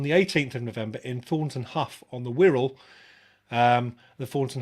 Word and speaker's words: Thornton Hough: I'm hoping I've pronounced that correctly, the same as Thornton Hough. I was calling it Thornton Howe for a while until somebody corrected me, but there we go.